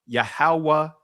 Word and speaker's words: Yahawah: But whatever the case may be, but still, we could in ancient Hebrew, this would be pronounced Yahawah da. Each letter pronounced as a syllable.